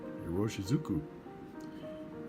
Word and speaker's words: Iroshizuku: It took me a week to learn how to pronounce it. Hiroshizuku.